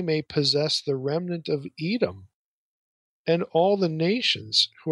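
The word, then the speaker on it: אדום: Now, in Amos 9, Edom, if you know a little Hebrew, is spelled Aleph, first consonant, Dalet, Mem, and given an E and an O vowel, Edom.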